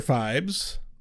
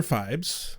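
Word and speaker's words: Phibes: the God damn I can't names you can pronounce Rex well that would severely limit our options yes the indominable Dr fibes Dr what Dr fibes fibes yes okay p h i b s fibes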